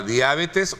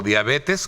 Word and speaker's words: diabetes: de de un tema de la diabetes o diabetes como en algunos países de América Latina se escucha a menudo cuando se pronuncia a manera de de ser una palabra esdrújula sin embargo También la misma Real Academia sostiene que debe de evitarse la deformación Popular es decir como comúnmente